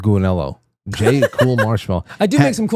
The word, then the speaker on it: Gulinello: Anner said, Frank, I especially love your episodes with Jay, Cool Marshmallow. Rhymes with Gulinello.